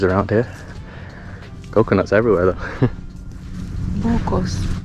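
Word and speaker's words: buko: Bucos. Buco, yeah. That's how you say it in the Filipino language.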